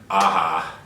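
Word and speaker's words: Aja: gone wild so back in 2010 director Alexander aha Alexandra AHA let's let's pronounce it correctly decided to reimagine a classic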